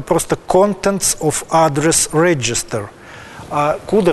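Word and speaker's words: cdr: в хостеле называлась tail произносится именно куда не могу сказать почему именно так произносится но вот такая традиция есть и konce это хостелов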